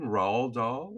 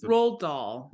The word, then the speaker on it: Roald Dahl: Roald Dahl? Is it Roald Dahl.